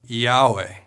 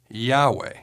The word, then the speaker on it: Yahweh: to the syllable way when all the vowels are pronounced together it sounds like Yahweh or Yahweh the Greek transliteration also